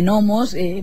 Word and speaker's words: gnomos: más siniestro n de gnomos porque aunque se escriba con g se pronuncia sin ella un portugués silencioso invisible